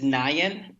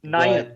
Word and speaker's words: Nayan: It's Nayan. Nayan. But, Nayan. Yeah. Yep. Well, people have their different pronunciations of it, but Naresh has never experienced any difficulty with people saying his name.